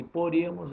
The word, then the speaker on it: poríamos: E poríamos é a única proparoxítona. A tônica é o I. I, A, MOS.